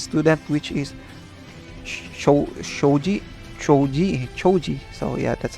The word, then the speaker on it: Choji: Choji Choji. So, yeah, that's how I that's how you pronounce his name.